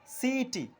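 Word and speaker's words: city: এখানে আমরা দেখতে পাচ্ছি সি এর পর আই, সেজন্য এর উচ্চারণটি হলো সিইটি, অর্থাৎ কিটি আমরা বলছি না, আমরা বলছি সিইটি।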